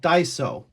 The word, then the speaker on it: Daiso: So, as you guys saw, there is a store called Daiso. That's the way you pronounce it.